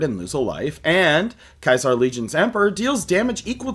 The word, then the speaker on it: Caesar: it Kaisar instead of Caesar, uh, one, in the games they do pronounce it correctly as Kaisar because in the original Latin it was Kaisar.